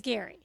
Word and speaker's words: Gerry: That's spelled G Spelled like Jerry. But he's scary. But he's Gary.